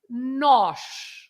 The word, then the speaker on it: nós: That accent, as I said, opens the vowel, so you have to say nós, right?